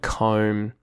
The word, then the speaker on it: comb: The first thing that comes to mind for me is the unpronounced B at the end of some words in English, such as lamb and comb and that sort of thing.